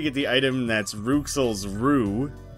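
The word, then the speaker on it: roux: You eventually get the item that's Ruxel's Rue. R-O-U-X is a real word, it's pronounced Rue, which means the master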